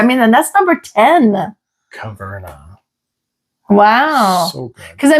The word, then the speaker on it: Caverna: But anyways, this is pronounced Caverna.